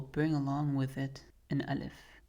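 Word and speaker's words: ألف: along with it an alif, but it'll for the most part be just a silent letter that we don't pronounce until we stop on it, and that's when this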